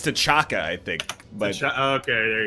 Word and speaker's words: T'Chaka: It is like it's T'Chaka, I think. But Okay, there you go. but they yeah. say it like T'Chonka in the movie.